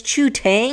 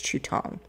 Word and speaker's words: Chu Tong: I think it's Chu Tong. Let me check that name. Tong. Chinese pronunciation. Tong. I was right. It's Tong.